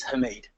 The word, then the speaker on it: Hamid: And the surname, despite the consonants that are too close together, is Hamid.